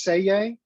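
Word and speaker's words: Selye: right so hans and you do not pronounce the l in this it's it's it's actually pronounced say yay he specialized in research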